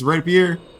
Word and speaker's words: rapier: It's rapier. Rapier.